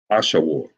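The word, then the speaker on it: Ashur: language Scholars and students you already know it is pronounced AA Asha War Asha War why because you got the W and the r connected the ra becomes soft like an R it becomes soft War you see that the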